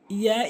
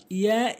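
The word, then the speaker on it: ياء: এরপরে হচ্ছে ইয়া, ইয়া, ইয়া ইয়া ভুল উচ্চারণ, ইয়া ইয়া ভুল উচ্চারণ। এর সঠিক উচ্চারণ হচ্ছে ইয়া, ইয়া জিহ্বার মাঝখান উপরের তালুর সঙ্গে।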